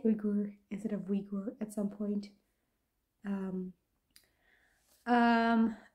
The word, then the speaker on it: Uyghur: what I found but in Dutch we say urugur which kind of goes with English spelling so